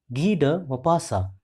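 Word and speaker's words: Maupassant: is G mapasa once again listen carefully the pronunciation of this author g mapasa g mapasa was born on 5th August 1850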